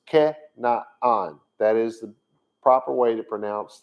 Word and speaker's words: Canaan: the land of canada and they call that canaan for some reason i don't really know it's not pronounced that way and then some will say